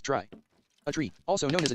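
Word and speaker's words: trie: in dictionaries is probably a tree pronounce try a tree also known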